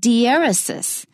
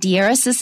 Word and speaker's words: diaeresis: It's called diaeresis. And diaeresis is spelled D-I-E-R-E-S-I-S. D-I-E-R-E-S-I-S, diaeresis.